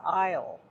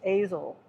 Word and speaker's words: aisle: And they said, because he doesn't know how to spell, he doesn't know how to say the word aisle, He was going around saying it's Azel, because they'd have the